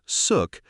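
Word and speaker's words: xuc: Born in the 1940s, the name suk, pronounced suk, comes from the quirky shook shook sound made by the clarinet in traditional folk music.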